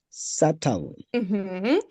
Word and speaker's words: subtle: Subtle. I know we can see a B in that word. We don't pronounce that.